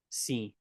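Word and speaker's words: સિંહ: Like if you look at the English pronunciation of it, kind of ignore that in a way. It's just pronounced sinh. sinh So, the lion is the king of the jungle.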